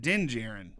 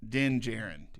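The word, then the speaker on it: Din Djarin: sorry it's den jiren the dj is not is it's d-i-n d-j-a-r-i-n den jaren that's how you pronounce it den de geran then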